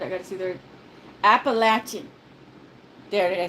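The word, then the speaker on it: Appalachian: I keep saying that appalachin not being mean but we always have to tell everyone it's pronounced like lat yes uh uh um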